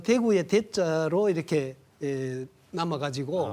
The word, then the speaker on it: 대구: 그런 차이가이 표준어와 서울말과 대구말의 큰 차이다 이렇게 생각하면 됩니다. 대구 사람들이 대구를 발음하는 걸 보면 네 대구 이렇게 하잖아요. 대구 대자가 강하고 높아요. 대구.